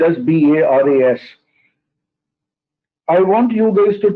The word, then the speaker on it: Baras: Okay, it's a Marathi name, Baras. It is spelled as Baras.